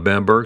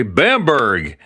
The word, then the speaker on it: Bamberg: Now, there's different pronunciations of Bamberg. Americans would say Bamberg, but it's Bamberg.